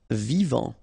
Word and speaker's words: vivant: Vivant, final T not pronounced, vivant.